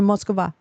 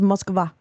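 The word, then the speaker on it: Москва: In Moskva. Because in Russian, Moscow is not a word. It is Moskva. That's how you say it.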